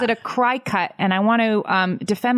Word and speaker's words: Cricut: the rules of phonics, cry cut is how you pronounce that collection of letters.